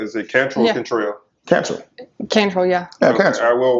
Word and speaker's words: Cantrell: Pronounce hers correctly? Is it Cantrell or Cantrell? Cantrell.